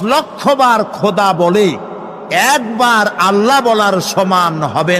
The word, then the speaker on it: আল্লাহ: কিন্তু আল্লাহ হচ্ছে অশুদ্ধ। শুদ্ধ হচ্ছে আল্লাহ। বলার সময় মুখটা গোল হয়ে যাবে। বলেন তো সবাই।